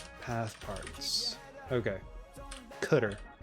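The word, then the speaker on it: cdr: s path Parts okay cutter that's what they call it cutter I love that they told you how to pronounce it big win on that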